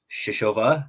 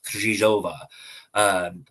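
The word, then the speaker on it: Křížová: But it is more of a rolled R with a Z sound in that second letter, right? So it's Kryzhova.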